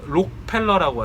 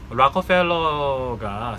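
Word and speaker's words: Rockefeller: 그래서 옛날에 아시겠지만 미국에선 실제로 락커펠러라고, 그러니까 록펠러라고 하죠. 한국에서는 여기 발음은 락커펠러입니다. 저도 미국 사니까. 락커펠러가 스탠다드 오일이라는 걸로 미국에 있는 오일 시장을, 석유나 정유 시장을 95%를 장악했어요.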